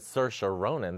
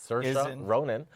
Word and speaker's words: Saoirse Ronan: Well, I'm interested in the fact that Saoirse Ronan, that's how you say it, folks, Saoirse Ronan, who is up for the Oscar for Brooklyn, is in starring in the Winona Crucible.